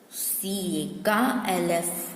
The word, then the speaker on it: calf: CA, LF, ulf, calf, calf, calf. Here L is silent.